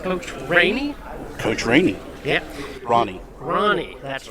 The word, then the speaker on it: Rahne: But their coach, Rahne, did we pronounce that right? Coach Rahne? Coach Rahne. Yeah. Rahne, that's right.